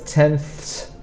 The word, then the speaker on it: tenths: Tenths, so you have to put your tongue behind your teeth and go th. So it's tenths, hundredths, thousandths. That one is especially difficult because we have a th at the sound and a th at the end. So keep practicing this.